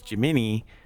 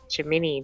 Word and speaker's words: Gemini: But you're supposed to refer to everything else as Jimni and the spacecraft as Gemini. Whatever. Yeah, but if you say Jimini to probably anybody, they're going to think you're not right.